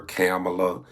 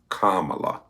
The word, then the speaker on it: Kamala: to every little girl whose name has been mispronounced you know because some people call her camela Kamala so it's Kamala anyway whose name who is being mispronounced who